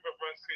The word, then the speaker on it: Brzezinski: Andrew Brzezinski, you said it right.